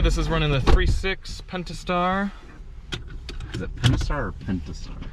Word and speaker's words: Pentastar: there is a P, there is a T in there. It's spelled Pentastar. Depends, it's up to you how much you want to pronounce the T.